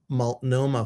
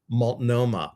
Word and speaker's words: Multnomah: So I know I did say Multnomah. I wanted to say Multnomah. That's how I think it should be pronounced, like maltomeal, Multnomah, but it's Multnomah.